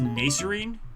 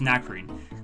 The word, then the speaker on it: Nacrene: It might not be pronounced... It might be pronounced Nacerene. But I think it's Nacrene.